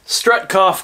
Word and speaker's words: Strahtkhaf: inted it before but now I know how to pronounce the way they spelled that strut cough combo makes sense now with the words that